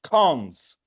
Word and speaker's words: cons: other thing is that this operator made from a single colon uh is pronounced cons which is short for construct and there is a